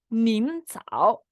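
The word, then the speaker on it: 您好: Y esta lección se llama Nin Cao. Nin Cao. Fíjate cómo el tono 3 se acentúa bien.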